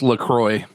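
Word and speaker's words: LaCroix: So it's pronounced Lacroy.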